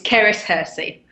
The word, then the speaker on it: Cerys Hearsey: It's Cerys Hearsey.